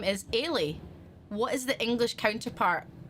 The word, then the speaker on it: Eilidh: It sounds like Ailish, but I don't know what Ailish is in English. Is it? It's spelled, I'll tell you the spelling, Eilidh. Ailey.